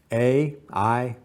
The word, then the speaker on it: Ay: rules after King Tutt is a i is spelled a y we know very little